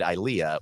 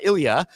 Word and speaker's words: ILEA: an event called uh Ilia the international Live Events Association and I'm glad I got the right uh pronunciation of it before this because I was pronouncing it ileah oops so uh uh Ilia so that's great it's